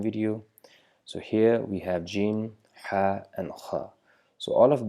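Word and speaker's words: جيم: which is not like gym it is G uh and uh it is equivalent to the pronunciation of English J as in jug so it's not the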